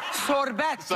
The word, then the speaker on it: sorbetto: Dawn and I are Sicilian, and we pronounce it sorbetto.